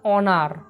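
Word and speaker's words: honour: অ্যান অনার, এখানে কিন্তু হচ্ছে অ, কারণ এখানে এই যে এইচ সামনে রয়েছে, এইচের সাউন্ড কিন্তু হচ্ছে সাইলেন্ট, অর্থাৎ এইচের কোনো সাউন্ড উৎপন্ন হয় না, কিন্তু উচ্চারণ হয় অনার।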